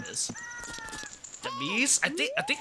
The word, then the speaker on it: Demise: It's pronounced like prepare to meet your demise.